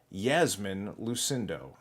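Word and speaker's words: Iasmin Lucindo: Aqua Yasmin Lucindo. And yes, it starts with the letter I, but it's pronounced Yasmin Lucindo.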